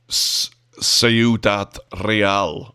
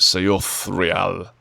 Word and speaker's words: Ciudad Real: to be heading to Ciudad Real, which I've totally said wrong, it's Ciudad. I think the Spanish pronounce it Ciudad Real, or something like that.